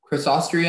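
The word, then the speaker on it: Crassostrea: Crossostria is the only pronunciation.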